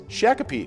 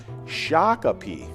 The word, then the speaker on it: Shakopee: um let's see if that's correct the common mispronunciation is shakopee uh the actual pronoun uh actual pronunciation is shakapee shakopee not shakopee yeah it's shakopee yeah yeah